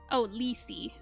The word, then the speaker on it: Lethe: Okay, second is my most recent Sona, an albino muntjac deer raven, pronounced Lethe.